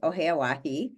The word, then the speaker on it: Oheyawahi: You pronounced it correctly. I'm very impressed. Oheyawahi.